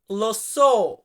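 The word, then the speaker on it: lo so: I know আমি জানি এটাকে আমরা ইতালিতে বলি লোসো অনেকে এটাকে আবার ইয়োসো উচ্চারণ করেন ওইটা মনে করেন যে ইয়ো তারপরে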